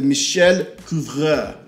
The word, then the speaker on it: Michel Couvreur: hope you can see it, it's called the MICHEL COUVREUR. I looked it up, that's exactly how it's pronounced, so no need to put anything in the comments.